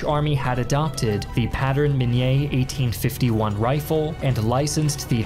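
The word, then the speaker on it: Minié: delvinia had invented the Minier ball a cylindrical bullet and he's right it is pronounced Minier because it's French but everybody calls it the mini ball with etched rings and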